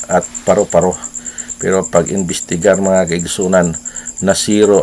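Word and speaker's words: paru-paro: so one point kay tungod kay naglisod siya pronounce kay matod pa sa insik ah palo-palo bulaklak so one point lang ang hapon ah hapon Japanese ng ah kining Miss Universe iya pong pag-pronounce paro-paro burakrak so one point so wala ng excited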